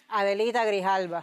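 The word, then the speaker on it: Grijalva: Grihala.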